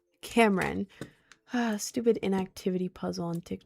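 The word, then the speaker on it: Camryn: It is spelled C A M R Y N. Cameron.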